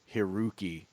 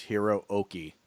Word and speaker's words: Hiroki: just a pronunciation guy when you see like two consecutive vowels and a Japanese name so it's like two O's in a row it's not it's not Hiroki it's Hiro okey that's nobody know that